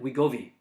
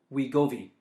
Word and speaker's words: Wegovy: I think it's Ozempic and Wegovy. Okay, I believe that's the pronunciation. Say that again. Ozempic. Ozempic. What's the other one? Wegovy. Wegovy. Yeah, I believe that's how you pronounce it.